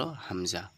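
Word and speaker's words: ء: কন্ঠনালীর শুরু হইতে উচ্চারিত হয় কোথা থেকে? কন্ঠনালীর যে শুরু কন্ঠনের শুরু কোনটা? আমাদের যে কন্ঠনাটা রয়েছে গ্রিবা গলাটা রয়েছে তার যে স্টার্টিং পয়েন্ট সেখান থেকেই কিন্তু আমাদেরকে এটা বের করতে হবে।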